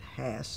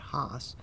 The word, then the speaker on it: Haas: brothers named Hass, and they pronounce it Hass, not Haas.